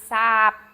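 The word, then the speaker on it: សាប: Bland is sap. S-A-H. B, I guess, you know what, we can put P just to keep with it. It's simply closing your mouth, so B or P is going to do the same thing. Bland. Sap. Sap. With an ah sound.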